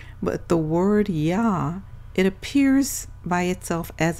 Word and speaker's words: Yah: The construct of the first two letters is one that is common in modern Hebrew, where the Yod is pronounced E, with the vowel He being pronounced A, creating Yah, which we have captured as Yah.